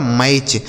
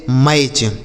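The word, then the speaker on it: match: आगे एम ए टी सी एच। तो एम ए से दोस्तों हो जाएगा मैं और टी सी एच को क्या लिखना है च यह लिखा गया आपका मैच एम ए टी सी एच मैच ठीक है एस एन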